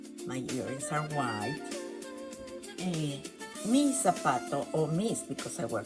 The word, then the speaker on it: zapato: So we don't say zapato. We say zapato. Zapato. We say zapato. Like, think of this when you pronounce. You want to put some sign there to remember. Pronunciation soft as an S.